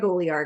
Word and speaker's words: Olear: I always said Greg Olear. Okay. Yeah, he when I first met him, I knew it was Greg Olear because I listened to his podcast, and he was saying, now it's not apostrophe.